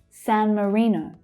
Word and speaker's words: San Marino: San Marino. San Marino. So the stress there is on re. Marino. Marino. San Marino.